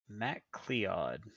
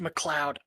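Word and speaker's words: McLeod: M Clead. Sidebar. It's pronounced Mloud.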